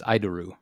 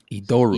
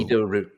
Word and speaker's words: Idoru: said said it as idoru uh no I I these are three syllables in Japanese and the leading I is pronounced e e yeah okay idoru idoru idoru yeah okay well